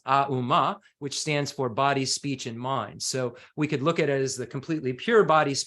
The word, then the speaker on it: Om: And the Om at the head of it, we can look at it as three syllables within the Sanskrit as Auma, which stands for body, speech, and mind.